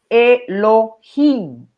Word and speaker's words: Elohim: Entonces, cuando aparece con este puntito, el escriba tenía la intención de que sea pronunciado Elohim, no el nombre sagrado de Dios, eso es la pronunciación, Elohim.